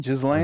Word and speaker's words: Ghislaine: It's GH. GH. Yeah, the H is silence.